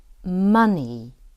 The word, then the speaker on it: money: flood and again flood notice the next words are spelled with an O vowel and the ah says Ah for example we don't say discover but we say discover use active listening to notice when a word is spelled with an O but it's said as ah money and again money